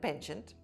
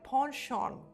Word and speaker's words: penchant: The Americans call it penchant and the Britishers call it ponchon. Example, my grandfather has a penchant for telling long stories from his youth. Or many people have a ponchan for spicy street food